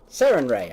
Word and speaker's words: Sarenrae: And Selena, with your knowledge, you know offhand that this is a dedication to the sun goddess Sarenrae. At least I'm pretty sure that's how you pronounce it. Sarenrae, I got it right.